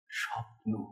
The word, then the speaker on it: স্বপ্ন: স্বপ্ন এই যে বললাম এই স্বপ্ন শব্দের দুটো সিলেবেল আছে একটা সব একটা নো এই দুটো কোমল পর্দার উপর দিয়ে এই স্বরটা গড়িয়ে গেল স্বপ্ন আবার যখন বলি ভয়ঙ্কর